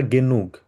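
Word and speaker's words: genug: আরেকটাকে বলি হচ্ছে আমরা গেনুগ। গে নাক বলি না, কারণ জার্মানে আমরা ইউকে উ উচ্চারণ করে থাকি, ওই জন্য হবে গেনুগ।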